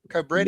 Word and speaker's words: Cobretti: Cobretti.